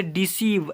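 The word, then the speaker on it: deceive: ई सी ई आई वी ई इसे पढ़ेंगे डिसीव ऐसे पढ़ लेंगे क्लियर अब ओके देन यहां पर देखिएगा इ का उच्चारण एट नंबर में इ ओ को इ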